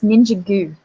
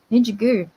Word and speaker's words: Ninjago: It's Ninja Goo. True. Ninjago. Okay, I can work with that. Okay. Ninja Goo. Ninjago, Ninjago. Not Ninja Go. Ninja Goo.